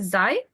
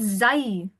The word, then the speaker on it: Sie: So it's not Zai common. What is it again? It's Z common.